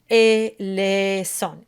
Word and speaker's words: eleison: is the S on eleison. And I pronounce it, it's force of habit, I do it as a soft S. But also the Z sound is perfectly correct.